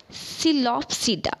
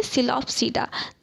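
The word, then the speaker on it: Psilopsida: Class first क्या होगा, सिलोप्सीडा। ठीक है, पी साइलेंट है, सिलोप्सीडा, जिसका एग्जांपल क्या है, सिलोटम और राइना।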